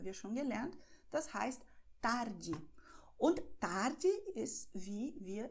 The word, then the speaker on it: tarde: In vielen Regionen von Brasilien wird R als H ausgesprochen. Zum Beispiel Nachmittag haben wir schon gelernt. Das heißt tarde.